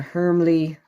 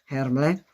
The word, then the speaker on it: Hermle: Inside it uses a Hermle. I have to stop pronouncing it like that. I need to pronounce it the German way. Hermle.